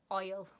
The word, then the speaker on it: hole: In Sheffield, we can pronounce hole, as in H-O-L-E, oil.